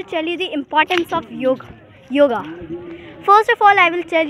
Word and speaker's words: yoga: Today I'm here to tell you the importance of yoga. First of all, I will tell you that we are not pronouncing it yoga, we are telling it yog.